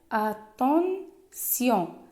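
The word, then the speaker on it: attention: وفاش كتكون عندنا عاوتاني في اخر الكلام تي مع لا لتر ايون ما كنقولوش تيون كنقولوا سيون كتعطينا سيون. بحال اتونسيون.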